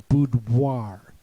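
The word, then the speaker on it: boudoir: In French, it's pronounced wa as if you're spelling wa pronounced wa.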